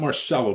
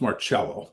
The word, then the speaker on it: Marcello: It's not Marcelo, Bill. It's pronounced Marello.